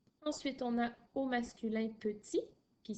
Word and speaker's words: petit: Ensuite, on a au masculin petit, qui s'écrit P-E-T-I-T. Notre T à la fin de petit, il est muet, bien sûr, puisqu'il n'y a pas d'autres lettres pour le faire parler.